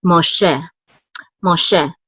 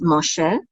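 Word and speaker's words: משה: So this is Moshe. And we know that the accent is on the second syllable because of this trope mark right here. So this is Moshe.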